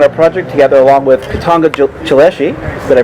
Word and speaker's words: Katongo Chileshe: we're working on a project together along with katanga chileshi did i pronounce that properly yes you did okay i'm